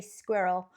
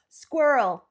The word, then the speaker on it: squirrel: Is it that the double R is just pronounced really quickly, so it kind of merges into the second half of the word? So, yeah, I think that's how quite a few of you pronounce squirrel, right? Squirrel, squirrel. But no, we're very much, we love our R's, the British.